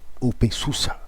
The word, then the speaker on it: openSUSE: Então, mas o OpenSUSE, aqueles que os alemães dizem que se pronuncia OpenSUSE, né? Mas eu não consigo, esquisito demais. Então eu chamo de OpenSUSE, né?